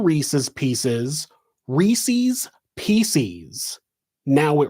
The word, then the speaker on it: Reese's: like Reese's peanut butter cups, they call it Reese's, which is not the correct pronunciation. From the company itself, it is not the correct pronunciation. The correct pronunciation is Reese's.